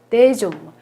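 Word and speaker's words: des hommes: 데좀무라고 발음을 해요. 요거는 연음을 합니다. 왜냐하면 옴무의 아쉬가 무음 아쉬이기 때문에요. 연음을 해요. 데좀무, 데 팜무 이렇게 발음하시면 되겠어요.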